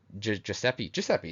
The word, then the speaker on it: Giuseppe: I know how to pronounce it right, but Giuseppe, that's right.